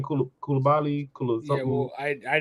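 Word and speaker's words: Coulibaly: Kulabali.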